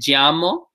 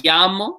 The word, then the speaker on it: llamo: different per region um the way I say it is a little bit more like a je and Y combination like made llamo some places will say me llamo like a yeah like a why sound in English some places I'm pretty